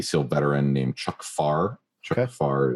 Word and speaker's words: Pfarrer: Chuck Farr is spelled Pfarrer, something like that.